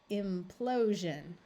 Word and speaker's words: implosion: and pronounce them correctly remembering that the SI in these words because it is taking the place of a d or an SE is going to take on the voiced J sound all right we have